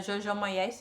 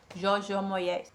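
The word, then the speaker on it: Jojo Moyes: gostava muito que era Jojó Moés, acho que se pronuncia assim, Joj Moés, que é uma escritora de romance.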